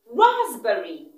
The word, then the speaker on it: raspberry: Raspberry. Raspberry. The letter P is silent. So it's not raspberry. It's raspberry.